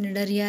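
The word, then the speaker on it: Cnidaria: अब तीसरे नंबर का हमारा है निडारिया, ये सी साइलेंट है इधर, तो निडारिया इसको पढ़ेंगे, इसमें आती है हमारी जेलीफिश।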